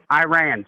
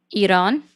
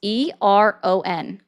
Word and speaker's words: Iran: Iran. Okay, well, Iran then, whatever. Yeah, like You know you what I pronounce it meant. as if it was spelled Eron. It's Aran. You're awesome. How would you pronounce it?